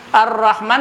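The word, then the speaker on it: الرحمن: Ar-Rahman tulisannya tuh lihati. Ada alif gantungan nih. Bacanya panjang kan? Ar-Rahman.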